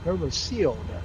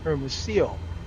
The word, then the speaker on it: Hermosillo: That's pronounced Hermosillo, LLO, kind of like arroz con pollo, one of my favorite Mexican dishes, but it's spelled Pollo, and this is Osillo, but it's pronounced, from what I understand, Hermosillo.